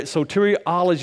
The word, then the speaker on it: soteriology: to study so tear that's salvation so tyra soteriology is how you pronounce that so if you were in seminary or something you were studying the the doctrine of salvation because you'd be studying soteriology let's look at a few things about soteriology